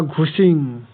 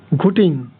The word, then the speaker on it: ঘুটিং: এখানে সবগুলো অপশানের মধ্যে এখানে জরা বা ঘুচিং বা একে ঘুচিং বলা হয় বা ঘুটিং বলা হয়। সঠিক উত্তরটা হবে এখানে ঘুটিং। বিভিন্ন বইতে বিভিন্ন রকম উচ্চারণ আছে, কিন্তু এটা উত্তর হচ্ছে এখানে ঘুটিং হবে।